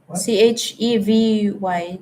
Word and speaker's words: Chevy: C H E V Y. Chuvi. How do you pronounce Chuvie?